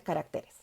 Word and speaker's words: caracteres: En singular, carácter, en plural, caracteres.